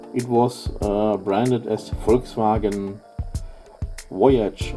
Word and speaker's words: Voyage: And, well, in Brazil, where the car was actually built, it was branded as Volkswagen Voyage, or Voyage, if you want to pronounce it more the French way.